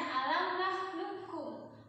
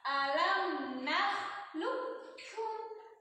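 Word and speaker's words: ألم نخلقكم: Bacaannya alam nakhluqukum. Qaf sukun nakhluqukum. Nah, bacanya enggak gitu. Bukan alam nakhluqukum. Kalau itu itu huruf pertamanya lebur. Jangan dibaca qafnya, langsung ke kaf. Kafnya pakai tasydid.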